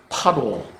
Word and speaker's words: 바로: 거기에 왕은 바로인데 파로, 발음이 파로다.